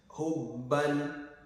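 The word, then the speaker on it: حُبًّا: Hubban, hubban, which is silent. This is damad, the alif of madi. It's not prolonged because behind it there is a tanwini.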